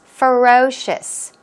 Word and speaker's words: ferocious: very influential as well what about ferocious ferocious ferocious stress goes on the second syllable and as I mentioned